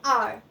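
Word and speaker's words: hour: Example, N आर, तो आर जो है वो एच से स्टार्ट हो रहा है, बट यहाँ पे एच साइलेंट है, साउंड वॉवल का है, इसीलिए हमने एन लिखा।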